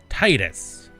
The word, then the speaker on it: Titus: It is an ital it is a Latin name from the Roman Empire and it's always been pronounced Titus. Just like the development company Titus.